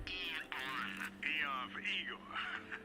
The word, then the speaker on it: Aeon: With the state of the world today, the Aeon program is Eon. I'm sorry? It's pronounced Eon.